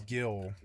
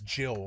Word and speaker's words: Gil: It is Gil, you know, but like man, for 27 years, I thought of it as Jill for some reason. I was like Jill, but it was a soft G to me cuz you I never did hear somebody say the word. So, in my head, I always read it as as Jill, a soft G, but no, it is a hard G.